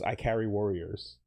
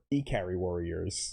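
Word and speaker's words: Ikari Warriors: Um, and then weirdly, the second game I played was I Carry Warriors or E Carry Warriors, which is what it's properly pronounced as when you were a kid as a child in 1990.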